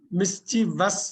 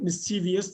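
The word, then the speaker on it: mischievous: இதுல எதுவுமே சைலெண்ட் கிடையாது நம்ம தப்பா வாசிப்போம் மிஸ்வஸ் தான் கரெக்ட் எது தப்பு மிஸ்டிவியஸ் தப்பு மிஸ்டிவஸ் எஸ் மிஸ்வஸ் மீன்ஸ் குறும்பு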